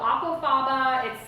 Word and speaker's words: aquafaba: So aquafaba, it's spelled the way it sounds, like aqua, A-Q-U-A, and then faba, F-A-B-A.